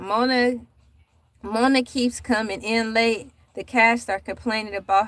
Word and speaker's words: ELAY: My name is LA, pronounced like LA, like the city on that front there.